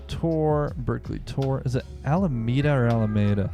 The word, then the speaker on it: Alameda: I mean, the English pronunciation is Alameda. However, if you're approaching it from purely a Spanish accent, it's going to be Alameda.